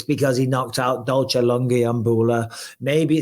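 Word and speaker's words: Lungiambula: He later found out that it was because Magomed Ankalaev had knocked out Dalsha Langabulia. Langiambula.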